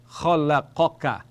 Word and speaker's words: خلقك: So this is kha with a grating sound, kha, la, qa, and then ka, flat, ka. Khalaqaka, khalaqaka means he created, which you already know from above.